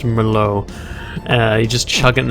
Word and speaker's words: Merlot: ] bottle of merlot i called it my lot but i think it's pronounced merlot uh you just chug